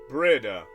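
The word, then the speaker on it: Bríd: It's pronounced with a long E, similar to the English word breed. Oh, okay, breed. Okay, I see. But the final D is like the D in Bridget, almost a J sound.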